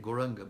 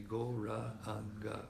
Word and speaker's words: Gauranga: We say it Gauranga, but it's actually Gauranga, 4 syllables.